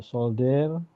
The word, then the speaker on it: soldier: Nah, jadi eh tentara itu tulisannya memang pakai D ya, tapi bacanya pakai J.